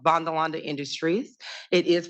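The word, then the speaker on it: Vanderlande: two years ago I had a company called bondalonda Industries it is pronounced vondalonda it is the Netherlands based company and you've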